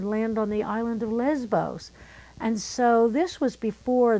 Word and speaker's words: Lesvos: And it's that I'm working with the refugees on the island of Lesbos. It's spelled Lesvos, but it's said Lesbos because the V is the B sound in Greek.